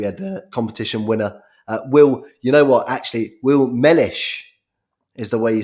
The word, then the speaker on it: Mellish: Will Mellish is the way you say his name.